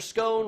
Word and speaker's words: scone: Kelly says it's pronounced scone to rhyme with John.